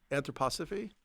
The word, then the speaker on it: anthroposophy: Anthroposophy. Yeah. I can't even spell it.